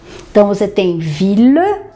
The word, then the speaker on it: ville: Y, você pronuncia L, mas nesse caso dessas três palavrinhas, também será pronunciado com L só. Então, você tem ville, ville, que é cidade, village,